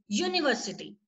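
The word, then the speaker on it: university: What is it's right, what is the first sound that you listen, that is यू। यूनिवर्सिटी you sound है, ठीक है।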